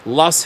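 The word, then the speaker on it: Loess: Fast forward January 2020, southwest Iowa in the Lowe's Hills, pronounced pronounced Lust Hills, overlooking the Missouri River.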